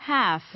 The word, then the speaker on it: half: 다음 단어 half, 이렇게 half, half라고 하십니다. 여기서 L, spelling N은 자, 철자 letter L은 silent, 소리가 아예 나지 않습니다. dark L가 아니에요.